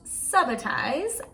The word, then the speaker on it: subitize: scuba dive and ah it might actually be pronounced subitize that's something that i hear both pronunciations going around whether it's subitize or subitize is that you look